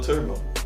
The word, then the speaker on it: Turboe: there's an E, but the E is silent. So it's in an O and the E is combined. So it's like an O-E. And then that's how you spell Turbo. That's Turbo, man.